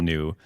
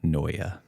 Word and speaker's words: Neue: Helvetica Noia. I always thought it was like Helvetica New. I always said I new. honestly thought that for 40 years.